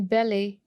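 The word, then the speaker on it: ballet: And then बेले. बेले में हम टी को प्रोनाउंस नहीं करते.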